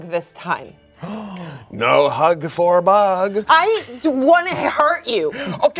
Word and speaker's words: Bug: cheek and I'm like, Bog, don't act like it hurts. And then I look at you and I'm like, I've never realized my name rhymes with a hug.